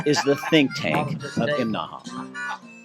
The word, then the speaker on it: Imnaha: Okay, this morning we're in Imnaha. Now, that's three syllables, Imnaha. You have to say it that way or people in town will laugh at you.